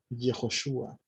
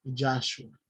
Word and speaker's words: Yehoshua: salvación, Yahweh salva, pero si nosotros quisiéramos decir Yahweh salva, la palabra es Yehoshua, no Yahshua. Entonces, eso es lo que tenemos que comprender. El nombre es Yeshua y por lo demás es bíblico.